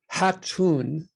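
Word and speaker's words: Jatun: And Hatun, it's spelled J-A-T-U-N, Hatun is like the pregnant void.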